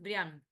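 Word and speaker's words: Briand: Porque en francés es Brian, así que eso me lo enteré hace un tiempo, yo lo pronunciaba mal.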